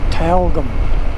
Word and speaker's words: Tyalgum: They sort of leave out the Y and pronounce it Tyalgum, as in T-A-L-G-U-M.